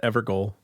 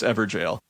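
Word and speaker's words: Evergaol: I've always said Evergoal. Jail. It's Everjail. Everjail?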